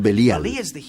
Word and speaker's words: Belial: beli y yal belial que nosotros pronunciamos belial beli significa desperdiciar o